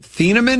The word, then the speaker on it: Thieneman: Was that Thieneman?